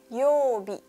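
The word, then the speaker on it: 曜日: Digabung menjadi yobi.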